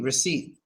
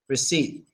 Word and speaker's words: receipt: uh often misspelled but we pronounce it just without the P receipt receipt we just take the